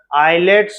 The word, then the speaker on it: islets: It is called for pancreas as islets, is silent रहेगा, islets of Langerhans.